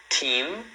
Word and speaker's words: team: Team. Team. Tá vendo? Aí você fecha a boca team, que é um time.